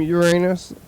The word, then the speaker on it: Uranus: name of Uranus from Uranus like recently after everybody was making jokes about it and stuff has it always been like that the pronunciation the correct pronunciation is Urus we still got the